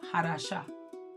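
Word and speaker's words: חדשה: So, uh so, Hadasha, but because we know now about the c, we can drop that c and it would be as it is exactly pronounced, which is Hadasha.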